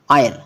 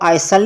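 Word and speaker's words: isle: एस एल ई आयल अब यहां भी क्या है आई और एल के बीच एस है यहां पर भी इसको आई सल नहीं पना इसको क्या पना यल ऑयल होता है रास्ता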